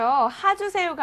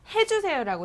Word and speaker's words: 해 주세요: 하주세요가 아니라 해 주세요라고 정확하게 발음을 해 주셨으면 좋겠습니다.